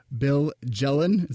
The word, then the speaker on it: Bill Jelen: Excel, Bill Jelen.